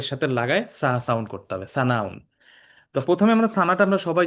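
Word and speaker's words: ثناء: সানা না শব্দটা সানা সানাউন আমরা সানা বলি বাংলায় বাট আসলে সানা না শব্দটা উচ্চারণটা হবে সানা সানাউন সানা আলিফ বা তাছা এটা কিন্তু স বললে হবে না এটা সাউন সানাউন মানে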